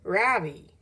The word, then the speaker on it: Ravi: R-A-V-I. Mrs. Beam has been calling him Ravi, but when he introduced himself earlier, I'm pretty sure he said his name was Ravi. With the accent on the second syllable.